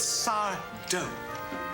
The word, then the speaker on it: Sardo: It's Sardo. No Mr. Accent on the dough.